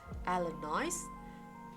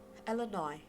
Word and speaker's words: Illinois: S in this word, if you articulate it as Illinois with S, that is wrong. So you have to pronounce it, you have to articulate it as Illinois without the sound of S, or the P in